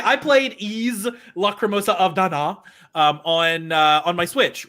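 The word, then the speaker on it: Ys: for bikini bottom rehydrated eaves uh ease eight la cremosa of da na uh and they even told us in the post it's pronounced ease so they kind of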